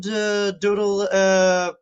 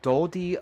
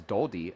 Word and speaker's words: Dodie: Are you also Katie's friend, Doodle Padding? I don't know if I pronounce it right. I believe it is Dodie Redding. Right, Jody Dodie, Redding. right? Like Jodie, right? So it's Dodie and then Redding, right?